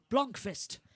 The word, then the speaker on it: Blomqvist: How do you pronounce person in number 17's name? Blomqvist.